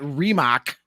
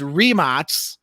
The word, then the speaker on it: Rimac: But I was today years old when I learned that's not Rimac, it's Rimac. Rimac.